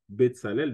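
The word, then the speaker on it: Betsalel: on aura compris que le TS se prononce aussi s ainsi donc bsalel d'ailleurs la racine tel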